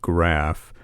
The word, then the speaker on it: Graef: your last name is spelled g r a EF pronounced graph so your website is